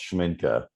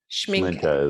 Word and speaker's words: Schmincke: It's a German name, which doesn't translate into English very well. It's Schmincke. Schmincke is but I hear all kind of.